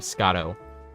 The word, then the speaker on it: Scotto: people Mis pronounce but it's literally Scott with a no that's how you say my name Scotto that's that's literally it Scotto but um yeah a